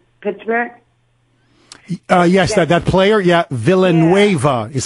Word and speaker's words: Villanueva: of that kid Pittsburgh yes that player yeah Villanueva is how you pronounce his last name Alejandro Villanueva number 78